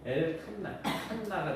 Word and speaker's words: 엘 칸나: 그 질투하시는 하나님을 히브리어로 발음을 하면 엘 칸나가 됩니다.